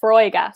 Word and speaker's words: Foróige: Yeah, so it's pronounced Foróige.